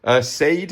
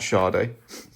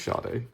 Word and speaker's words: Sade: Sade, as you'd pronounce it properly. Not Sade. It is Sade.